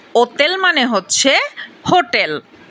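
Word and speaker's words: hotel: গাত্ত গাত্ত মানে বিড়াল আক্কা আক্কার উচ্চারণ সাধারণত হয় না যেমন ওতেল ওতেল মানে হচ্ছে হোটেল ই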